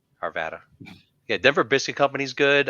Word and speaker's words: Arvada: Arvada.